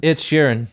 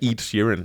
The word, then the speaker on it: Ed Sheeran: his new track Celestial say his name again Ed Sheeran that's better he said eat Shirin eat here in I know how to pronounce Ash Ketchum but I can pronounce edgerin